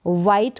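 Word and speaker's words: white: WH के बाद आई है इसलिए हमने एच का उच्चारण नहीं किया, प्रोनाउंस नहीं किया एच को। वाइट का मतलब सफ़ेद, और लास्ट में ई है इसलिए ई को भी हम प्रोनाउंस नहीं कर रहे, और टी को पढ़ा जाएगा ट, टी को हम पढ़ेंगे ट।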